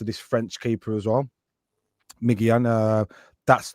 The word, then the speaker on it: Maignan: So what Manan that one man sorry I pronounced his name wrong. Mike Mike Manan, Mike Manan, AC Milan keeper.